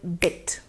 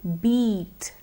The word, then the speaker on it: bit: Let's take the word bit. Bit. Bit. In case you stretch the sound, it would become beat. But beat is a different word. It is spelled B-E-A-T. The word B-I-T is the one in which we use the I sound.